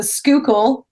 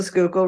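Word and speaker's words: Schuylkill: Then we've got the Skookul. Try and spell that ever. Um I can spell I'll spare you. The Skookul River.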